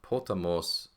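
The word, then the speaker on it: ποταμός: Now, the accent is going to go on the last syllable. Now, you have not seen this yet, so this is somewhat new. But when you look up potamos in the dictionary, you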